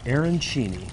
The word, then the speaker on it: arancini: Pronounce it for me again. It's called Arancini.